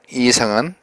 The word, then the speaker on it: 이상: 교외 신 나왔죠 이상 이상은 우리가 흔히 이상 얘기하는데 발음은 길게 해야 옳습니다 이상 이상 그 이상도